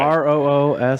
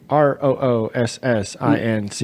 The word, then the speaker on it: Roossinck: Roossinck. Right. Oh, that's like the Aardvark song. Roossinck.